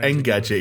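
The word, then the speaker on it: Engadget: i like how jonesy doesn't pronounce it like n gadget you pronounce it like an apostrophe gadget gadget gadget like the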